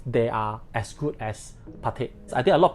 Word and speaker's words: Patek Philippe: it myself very much, Patek. So you do not need to read the whole thing as Patek Philippe. Please do not pronounce it as Patek Philippe. The two words behind is actually silent.